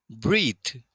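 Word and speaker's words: breadth: शगा को कहते हैं ब्रीत ब्रीत यहां पे डी साइलेंट है ब्रीत सांस को भी कहते हैं लेकिन यहां पर डी साइलेंट तो ये छोड़ाई को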